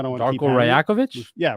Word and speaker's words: Rajakovic: But listen, you bring in a guy like Darko, and I got to work on my pronunciation of his last name. I don't want to keep Darko Rajakovic? Yeah, Rajakovic.